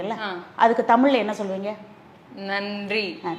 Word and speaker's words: நன்றி: அதுக்கு தமிழ்ல என்ன சொல்லுவீங்க நன்றி நன்றி அப்படின்னு நாக்க கடிச்சு சொல்லணும் சரியா ஏன் நாக்க கடிச்சு சொல்றோம்